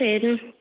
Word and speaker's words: Aidan: Did I pronounce? Is it Aidan? Yes, it's Aidan.